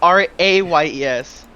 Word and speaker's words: Reyes: It's Rayes. Reyes. Anyways. Spanish for king.